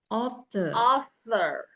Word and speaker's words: author: Nah, pertama adalah all, dan yang kedua kata suku katanya ada THOR, author.